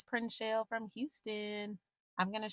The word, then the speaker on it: Prinshell: And it's like two syllables, y'all. It's like Prinshell. It's so easy.